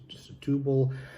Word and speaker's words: Setúbal: You go more to the south to the Alentejo region, or Setúbal, or it's pronounced Setúbal, Sesimbra, or you move down to the south